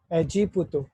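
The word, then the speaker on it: エジプト: एजिपुतो, एजिपुतो होता है इजिप्ट, मिस्र भी कहते हैं हिंदी में से।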